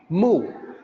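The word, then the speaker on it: 目: Mu is the Mandarin pronunciation for the eyes.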